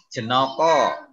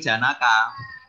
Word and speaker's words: janaka: pelajarannya bahasa Jawa ya jenoko ini bahasa ini bahasa Jawa tulisan janaka tapi ketika di dibaca dalam bahasa Jawa dibacanya jenoko jenoko itu artinya lucu yang kedua Taruna